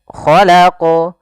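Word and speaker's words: خَلَقَ: Kemudian khalaqu, khalaqu, ya, di sini qalqalah lagi. Hati-hati, kesalahan yang sering terjadi adalah pertama tidak memantulkan, atau yang kedua menambah hamzah. Misalnya khalaq, atau misalnya khalaq, khalaq. Nah, itu menambah hamzah, harusnya tidak.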